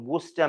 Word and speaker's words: Worcester: All right, I was thinking of Worcester, Mass, to keep me somewhat in the line for pronouncing the name of the sauce. Yes, exactly. That's pretty much the same thing.